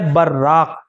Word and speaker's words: براق: البتہ ایک لفظ آتا ہے براق، با کے اوپر زبر کے ساتھ اور پھر اس کے بعد جو ہے را کے اوپر تشدید کے ساتھ، براق، آخر میں بڑا قاف ہے براق، اس کے معنی ہے روشن، چمکدار.